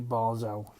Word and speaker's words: Basel: League I did actually Google how to pronounce their name and it wasn't bad it wasn't bad so it's actually barzell so we're going to